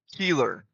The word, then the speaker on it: Keeler: Keeler. Is that right? Brock Keeler. Thank you for helping me with that pronunciation, and I really hope that I remember it.